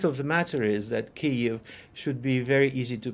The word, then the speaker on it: Kyiv: English, because, number one, the word consists of two syllables. The first syllable has the vowel E, which is positionally almost identical to E in such words as pit, lid, tid. The second vowel is slightly higher elevated than the E.